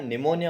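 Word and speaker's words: pneumonia: वास suffering from निमोनिया उसको क्या निमोनिया हो रखा था पी साइलेंट है ठीक है ना निमोनिया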